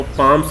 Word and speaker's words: palms: को पाम्स बोलती हैं, इसके अंदर एल जो है साइलेंट रहता है, PALMS, हम इसको पाम्स का जो है प्रोनाउंसिएशन करेंगे।